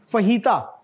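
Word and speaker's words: fajita: This is Spanish फहीता. तो ये जेन में रखिएगा, स्पेनिश में जो जे है ना वो इच बोला जाता है, बहुत काम आएगी ये चीज.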